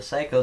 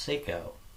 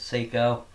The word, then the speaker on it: Seyco: did I mean by that well the the Seiko saw is actually pronounced Seco and the reason why kind of makes sense